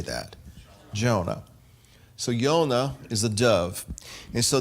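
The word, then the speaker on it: יונה: to time but it's jud vav and it's pronounced yonah now how do we say that jonah so yonah is a dove and so the yonah is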